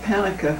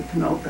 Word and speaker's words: Ponoka: they got to camocha they didn't know how to pronounce that name they called it panica when they were in the states but they learned it was supposed to be ponoka after they got there and my dad came